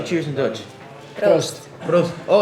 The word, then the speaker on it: proost: Proost.